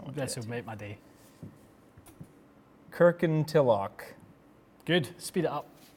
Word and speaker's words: Kirkintilloch: Try and pronounce that. I'm not going to. Please. This will make my day. Kirkintilloch. Good. Speed it up. Kirkintilloch.